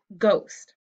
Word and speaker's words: ghost: with this card because it's a silent letter see we just hear gu ghost so if i only